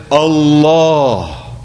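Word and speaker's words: الله: but instead we say Allah and that change in diction is emphasis for the sake of reverence emphasis to indicate the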